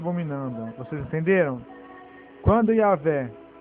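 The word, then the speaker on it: Yahweh: Portanto, a verdadeira pronúncia do nome próprio de Deus é Yahé. Transliterado Y, A, H, V e H. Yah, sendo que o H afinal não é pronunciado.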